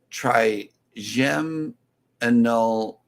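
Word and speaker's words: trigeminal: life with Tanisha uh has a uh pronunciation for the bananas in the chat here and it says try gem Tri gem anol neuralgia it's like a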